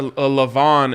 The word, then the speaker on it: Levan: A Levon in the Madden League, but it's spelled Levan.